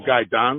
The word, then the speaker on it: Gan: Andre loger Okay my my last name is Gan uhuh oh Gan that's how I pronounce it yes sir I don